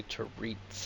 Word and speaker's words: Teresa: so Teresa Teresa Teresa say Tera that's how they pronounce it in this we haven't reported let's